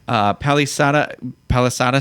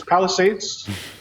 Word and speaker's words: Palisades: The live outdoor musical production will be performed on the Palisada State. Is that how you say it? No. Hopefully not. It's Palisades.